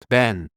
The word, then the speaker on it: been: Been has 2 common pronunciations. Ben. Sounds like Ben. Rhymes with pen. B's small kapien. Sounds like bin.